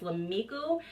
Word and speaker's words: Lameeku: it across the screen I think the correct pronunciation is 'la miku if it's not again